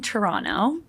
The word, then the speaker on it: Toronto: I grew up in Toronto in Canada Toronto Toronto there ton you don't pronounce the second T okay why I put